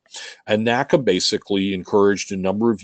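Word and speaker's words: NACA: for Aeronautics or did the way it's pronounced is nakka nakka basically encouraged a number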